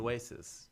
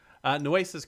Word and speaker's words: Nueces: Nueces? Is that how you pronounce it? Nueces. Do you know what Nueces means? Nueces, I don't. Nueces means nuts. Sounds like it should mean nueces. No, nueces is nuts in Spanish.